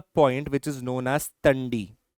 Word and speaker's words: Tandi: This is a point which is known as Tundi. T A N D I Ti.